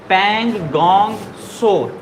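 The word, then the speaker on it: Pangong Tso: Lake का नाम है पैंगोंग सो, टी साइलेंट है।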